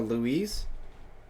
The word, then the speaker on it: Luis: He's exaggerating my pronunciation of the name, but it's basically Spanish. I'm Mexican. So Luis?